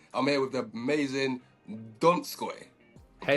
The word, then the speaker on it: Donskoy: I'm here with the amazing Donskoy. Hey, Pronounce that man.